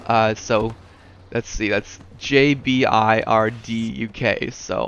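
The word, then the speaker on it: JBirdUK: partner but yeah uh so let's see that's JB i r d u k so how do I pronounce that I pronounced that Gerber right no of course not it's got to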